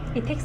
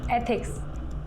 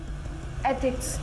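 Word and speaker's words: ethics: इथिक्स नहीं, एथिक्स ऐसे pronounce करो। एक बार बोल के बताओ। एथिक्स।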